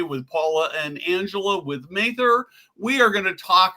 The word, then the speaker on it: Mather: And I think I butchered it. It's Mather, right?